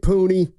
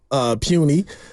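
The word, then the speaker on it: Puni: Hopefully he's not puny. I guess because he's big. I think you pronounce it Pooney.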